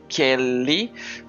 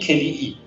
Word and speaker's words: Keli'i: Murray was with your friend Honani Kelly. Sorry if I mispronounce it. It's Haunani Keli'i. In Hawaiian, you say you pronounce Honani it Kelly. Keli'i.